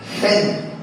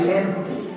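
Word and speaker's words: חן: En el hebreo, la expresión gracia se dice gen, como si fuera a decir gente, pero sin la T al final. Gen. Así es que se pronuncia, gen.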